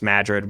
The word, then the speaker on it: Madrid: Iowa it's spelled just like Madrid but it's pronounced Madrid we've got nadaa it's uh there's a lot